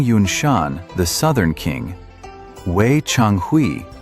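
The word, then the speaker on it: Wei Changhui: Weii Chong Hui, pronounced Weii Chongi, the northern king.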